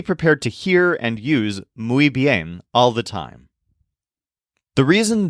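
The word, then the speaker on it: muy: word is not pronounced Mo it's mu think of mooing like a cow and you'll pronounce it correctly mu and again just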